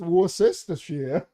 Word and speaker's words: Worcestershire: it's called Reeves says Worcestershire sauce because it doesn't smell Worcestershire does it no it doesn't it's War sister call the police I'm